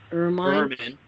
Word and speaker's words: ermine: I'd my ermine Ermine. self. Ermine. Yeah, it's ermine. Actually, is how you say that.